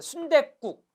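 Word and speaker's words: 순댓국: 실제 발음해보세요. 순대국.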